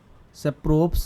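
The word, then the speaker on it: Tschuprow: और एक इन्होंने दिया था सेप्रोव्स coefficient of contingency, T silent रहता है इसमें।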